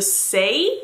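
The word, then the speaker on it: Saie: I love this blush this is the say I believe that's how you say it I thought it was a J at first I thought it was Sage but it isn't it's an i dewy blush in peachy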